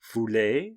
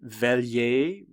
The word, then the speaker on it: veuillez: The correct pronunciation is Veuillez. This part is especially hard to pronounce for English speakers, as this sound doesn't really exist in English words in any standard English accent. It's somewhere between vey and voy, and if you're having trouble, you can start off by approximating the pronunciation as veillez.